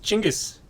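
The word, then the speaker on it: Genghis: smashing that woman ah fun fact it's pronounced chingus what yeah yeah like Django yeah chingas gone and it's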